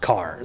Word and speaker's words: Kerr: So you were making sure to tell me ahead of time, Robby, that it looks like Kerr. It's Kerr, but it's pronounced Kerr.